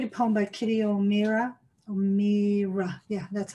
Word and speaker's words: O'Meara: O'Meara, yeah, that's how you pronounce it.